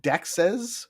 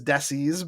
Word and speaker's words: dexes: aggregator to be is that desis like plural of dex? Um it well I pronounce it dexes but yes it would be pron it could it could be pronounced as desis by uh people that are reading it that way with the x and all that.